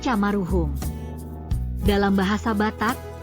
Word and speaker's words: Maroehoem: Pada waktu itu, huruf "OE" dibaca sebagai "U," sehingga kata tersebut dibaca sebagai " Maruhum."